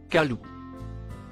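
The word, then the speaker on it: قالوا: écrit en violet et le verbe dire il se prononce Kalou il signifie ici ils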